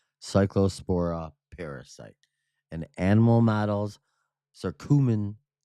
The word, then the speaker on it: curcumin: parasite and animal models circumin circumin this word curcumin curcumin here listen to this guy say it right curcumin curcumin eliminated cycllospora infection and reduce parasite shedding by 93.5%.